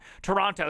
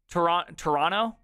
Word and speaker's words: Toronto: Toronto, stop with the T. Toronto?